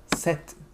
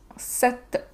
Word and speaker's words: sete: After seis comes sete. Seven. Sete. Sete. Yeah, a little bit like the Egyptian god Set.